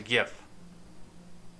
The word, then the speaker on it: GIF: with a video oh it's a gif it's hard g by the way well we'll see what